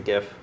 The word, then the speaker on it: GIF: I say GIF, hard G.